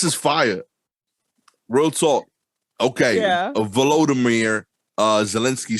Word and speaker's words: Volodymyr: I think it's Volodymyr. Volodymyr. It is dope. Volodymyr. Okay, I didn't want to say like Voldemort.